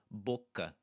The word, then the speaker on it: boca: And we're going to hear that same at the end of boca, boca, boca, sapato, boca, unstressed A.